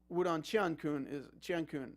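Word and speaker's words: 武动乾坤: Most recently, we've seen this in Wudong Qiankun with, Wudong Qiankun, that's what it's pronounced.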